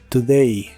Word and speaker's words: today: today que significa hoy la letra o se pronuncia como una u pero muy corta y suave today today también usaremos las